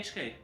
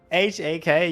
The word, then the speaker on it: AHK: You're saying the name wrong all the time. No, I did say AHK. HAK, you said once again.